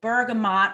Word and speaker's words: bergamot: on the head parade bergamot or bergamo depending on how you pronounce it it's the ultimate complementer